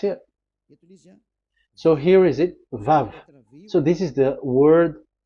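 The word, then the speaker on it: וָו: So the word, the shape Vav is really pronounced V, like Vogue. That is it, pronunciation. So here in this side, it's pronunciation. This is pronunciation. So according to the old Hebrew word today, those who, the owner of the words, I mean, so it's a V. So don't change it into W.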